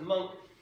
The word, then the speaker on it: Munch: man's name edward monk looks like munch but it's pronounced monk he was an artist